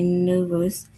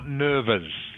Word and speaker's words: nerves: Not nervous. Not nervous. Just the E is silent.